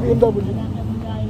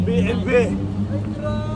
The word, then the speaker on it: BMW: Pambihira sa group BMW. It's BMB. BMB. BNV. It's BMB, not BMW. BMW ba ka? BMB. Baby ba yan? Pakisakyan. Proper pronunciation talaga. German brand yan.